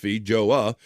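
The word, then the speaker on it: feijoa: Due to its short shelf life, New Zealand, a nation of thriving fruit exports, has never been able to spin the FJOA, pronounced Fija, into a global brand, as growers have done with apples and kiwis.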